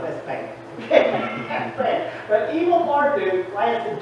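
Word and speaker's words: Evil-Merodach: It's a mouth here, but it's evil. That's the way you pronounce it and the way it's translated. It's evil Marduk.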